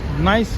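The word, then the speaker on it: NYCE: It's just Nice Effects as in the word nice. N-I-C-E. This is just with a Y.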